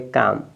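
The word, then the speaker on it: calm: एम होगा तब भी एल साइलेंट तो एल साइलेंट हो जाएगा इसको पढ़ेंगे काम सी ए एम एल तो साइलेंट काम अब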